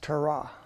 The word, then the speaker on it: Torah: okay one's Greek that's trra trra um destiny can you say trah but roll your R try it try try